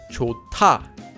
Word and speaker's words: 좋다: There's a hyut at the bottom of the first syllable, and it's followed by a digut. So the digut changes into a tiut. This becomes pronounced as 좋다.